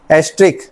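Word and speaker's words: asterisk: एस्ट्रिक ठीक है star नहीं बोलेंगे स्टार टीवी नहीं चल रहा है हॉट स्टार बोलोगे फिर बाद में Jio Hotstar स्टार नहीं बोलेंगे आप क्या बोलेंगे इसे एस्ट्रिक तो स्पेलिंग ई एस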